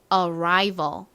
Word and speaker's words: arrival: 다음 new balance 마지막 단어 유심히 들어 주세요 arrival 한 번 더 해 볼게요 도착 Arrival 끝에 v a v처럼 소리가 나죠 V 그리고